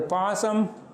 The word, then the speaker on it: பாசம்: அடுத்து பாசம், வெட்சி, புகழ்ச்சி, இச்சை, சூழ்ச்சி என்பவற்றிலே பாசம் என்ற இடத்திலே எஸ் சவுண்டிலே ஒலிக்கின்றது.